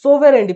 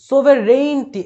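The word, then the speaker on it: sovereignty: সোভেরেন্টি প্রথমে আসে, যেটা একটু আগে পড়ালাম, সোভেরেন্টি, ঠিক আছে। সোভেরেনিটি হবে না, সোভেরেইনটি, এই যে এই উচ্চারণটা আমি পেয়ে গেছি।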